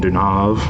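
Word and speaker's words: Deneuve: version that's obviously the american remake another catherine dunav i believe is actually how you pronounce her name um a christmas tale the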